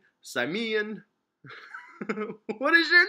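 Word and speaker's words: Symmion: Now apparently I say this name wrong every time, so let's give it a new take. Samian Moore. How else could you say, like, I'm not saying Moore wrong. Like, that's how you spell Moore. So it's his first name. This dude's first name is, it's Simeon, damn it. It's S-Y-M-M-I-O-N. It's Simeon.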